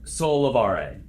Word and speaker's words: Sollevare: So how do you pronounce Sollevare. Sollevare.